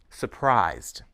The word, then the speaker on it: surprise: chicken baked or fried surprised notice that the second s in Surprise is pronounced as voiced Z I was surprised at